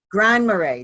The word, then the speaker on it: Grand Marais: constructed Galactic receiving station on her land and Mirai Minnesota is that how you say it Murray Mirai Grand Marais Grand Marais that's it Grand Marais Minnesota Christine presents her